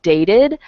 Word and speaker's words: dated: clear pronunciation okay because we tend to use um the the pronunciation like dated if um if the how do I say this if we're in an informal situation like they dated for 15 years um but if you are I don't know reading something in front of a group of people you would probably say dated like that it's more formal good